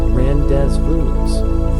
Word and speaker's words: rendezvous: Rendezvous at midnight or rendevous at the calf around 300 p.m. It's pronounced rand randez voos for quintessential.